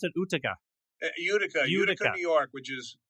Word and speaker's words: Utica: Is that how you pronounce it? Utica.